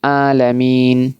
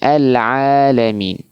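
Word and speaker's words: العالمين: Huruf ain ya huruf huruf ain bukan alamin tapi alamin. Alamin ini masih banyak yang membaca huruf in terlalu kasar.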